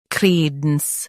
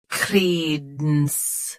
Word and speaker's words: credence: Credence. Both US and UK have the same pronunciation of this word. Stress cre. Keep dense soft and quick. Credence. Credence. Stress cre. Keep dense soft and quick.